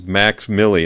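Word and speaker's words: MVXMILLI: his stage name is max milly and that's spelled m-v-x-m-i-l-l-i i'll say it again m it's like roman numerals m-v-x m-i-l-l-i max milly he's on spotify and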